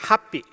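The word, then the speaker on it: 法被: So it's called Happy. Happy in Japan is the same pronunciation as the happy.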